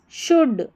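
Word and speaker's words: should: तो quickly so वी शुड शुड नहीं पढ़ना है एल साइलेंट है शुड always be प्री पैड प्रिपयर्ड ऐसे प्रिपयर्ड before going out during the rainy season.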